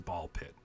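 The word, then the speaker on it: Ball x Pit: removing the fun.</b> <b>Ball Pit.</b> <b>Apparently the X is silent in Ball Pit,</b> <b>but I was very</b> <b>surprised that one of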